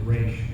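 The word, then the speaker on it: Ra's: He said it's RAS and with the accent on it is Raish, and so we always went with that.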